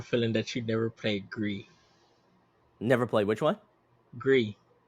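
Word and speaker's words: Gris: that you never played gree never played which one gree gree yeah it's it's it's spelled g r i s so you say GIS but it's a French word for GR oh okay got you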